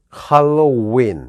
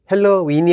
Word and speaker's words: Halloween: H 발음. 그리고 누가 봐도 명백한 헬로도 아니고 할로죠. 그리고 이중 모음인 win, 할로윈 이렇게 되죠. 헬로윈이 아니라 헬로윈이 아니라 할로윈.